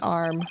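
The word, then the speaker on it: Arme: The E is silent in Arm, because her name, Candace Arm, is a pun of can disarm.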